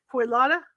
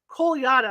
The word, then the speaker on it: Kolyada: Quote, Kolyada, that's Kolyada, I'm sorry, I mispronounced it.